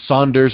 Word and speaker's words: Saunders: well you know I with my name Saunders I get Sanders a lot so I really try